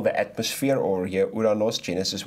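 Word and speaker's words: οὐρανός: So the first heaven we will find in Genesis, almost said Galatians, Genesis 1 verse 20, Uranos. Am I pronouncing it right?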